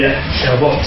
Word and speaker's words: Herbert: Alors je m'adresse à vous, c'est ça, c'est bien dit, Herbert. Le S, il doit être... À la française, on ne prononce pas trop le S.